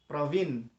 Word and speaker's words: Praveen: Now what if I say it is Probin? Praveen. Will it be correct? He or she might accept, but according to him or her, the correct name is Praveen, Praveen, right?